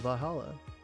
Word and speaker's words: VA-11 Hall-A: Good thing it's actually called Valhalla. The funny numbers and letters are just a code.